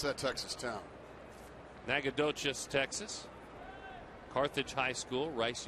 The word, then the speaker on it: Nacogdoches: How do you pronounce that Texas town? Nacogdoches, Texas.